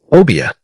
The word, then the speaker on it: Obeah: Obia. Three syllables. Soft at the opening, firm in the middle, tapering at the end, like smoke rising from a fire that has been burning for a very long time.